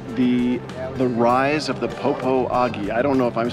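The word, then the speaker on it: Popo Agie: We are at the the rise of the Popo AI. I don't know if I'm saying that right, Bryce. It's pronounced poia, but it's uh at Sinks Canyon State Park.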